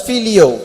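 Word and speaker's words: φιλέω: He is using another word in English, it's pronounced as filio.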